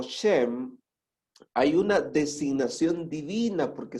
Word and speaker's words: Shem: Ahora, fíjense que hay una conexión lingüística muy interesante entre el nombre de Shem, que sería la pronunciación más apegada al hebreo Shem, y Shalem.